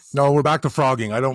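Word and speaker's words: phrogging: No, it's called Frogging and it's spelled P H R O G G I N G. Like it's Yeah, cuz that's how you spell frogging. I know. What the hell? I don't know. How did you spell that? Ph. Like fat with a ph.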